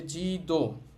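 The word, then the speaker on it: じどう: এখানে খেয়াল করেন, এখানেও কিন্তু একটা ও সাউন্ড আছে, জি দো, ও এর পর উ সাউন্ড আছে, তাহলে এই উ সাউন্ডটা উচ্চারণ হবে না, ওইটা একটু টেনে বলতে হবে জি দো।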